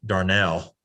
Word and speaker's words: Darnall: for mr darnall or i think he pronounces it i know he does he pronounces it darnell but it's spelled darnall and then we will